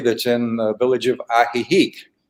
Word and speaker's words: Ajijic: in the village of ajijic it's a j i j i c but the j's are pronounced like h's and the uh it's